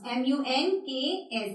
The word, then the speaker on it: monks: So जो correct pronunciation है MONKS की, it is monks. It is monks. MUNKS.